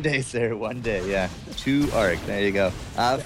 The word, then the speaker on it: 2ARC: 2ARC.